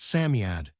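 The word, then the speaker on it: Psammead: Sami is pronounced Samiad.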